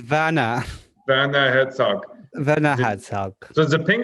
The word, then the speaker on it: Werner: It's a Werner Herzog film about Antarctica. No. You got to say it right. It's Werner.